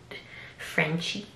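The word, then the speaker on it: Frenshe: This is, I'm pretty sure you pronounce it Frenchy, but it's F-R-E-N-S-H-S-H-E.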